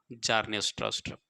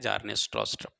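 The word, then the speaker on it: Bjarne Stroustrup: जार्ने स्ट्रॉस्ट्रप। B silent है, बी हम पढ़ नहीं रहे हैं, जार्ने स्ट्रॉस्ट्रप।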